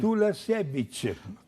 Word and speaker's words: Tulasiewicz: Como é que é o sobrenome pronuncia dela, certinho? Tulasiewicz.